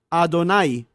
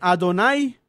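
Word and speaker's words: Adonai: llama con esta expresión ado nay este nombre en la traducción o en la pronunciación mejor de del hebreo bien puede pronunciarse ado nay o hedonai por qué ya saben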